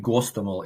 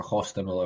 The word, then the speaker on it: Hostomel: north of Kiev, at the Gostomel airport, or Hostomel airport, if you pronounce it in Ukrainian, where basically the Russians